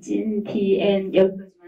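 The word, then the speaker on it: 今天: 찐티엔 찐티엔 처음에는 그렇게 하세요. 이게 티엔도 이게 발음이 어려운 발음이잖아요. 그러니까 이안이 아니라 tn. 그러니까 처음에는 찐티엔 여기까지만 하세요.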